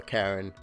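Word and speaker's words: Charon: arms in anyone's head if you know a karen and Greek mythology at all and obviously that's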